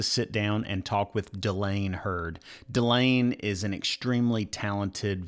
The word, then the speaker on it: Dylane Hurd: Dylane Hurd. And did I pronounce that correctly?